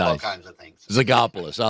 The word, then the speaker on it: Zogopoulos: Odds are good you've never run across that name, Zogopoulos.